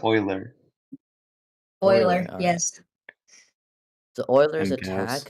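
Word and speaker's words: Euler: to know ability is did you just say uler I don't know ooler Oiler Oiler I do pronounce it I think it's Oiler Oiler yes the oiler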